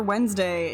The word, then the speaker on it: Wednesday: nice I mean when when like the default pronunciation for Wednesday is like w n s d a y